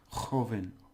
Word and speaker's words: joven: And remember, the J has to be really in your mouth. Joven, or joven, as they say. Because this is a B.